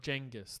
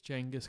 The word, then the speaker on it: Genghis: I think he's the grandson of Genghis Khan, or Genghis. That's how it's pronounced. It's Genghis Khan, and he was the first guy that was sort of trying to be multicultural.